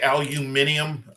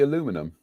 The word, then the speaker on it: aluminum: you guys would say aluminium um i call it and we say it wrong it should be aluminum you're the very first british